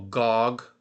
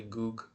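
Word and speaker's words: גוג: So, here's what they call Gog, but it's really goo.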